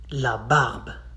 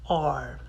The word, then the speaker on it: la barbe: How to say the beard, la barbe, la barbe. One more time, la barbe. A lot of people, English-speaking people, say la barbe. See, they say arb, arb.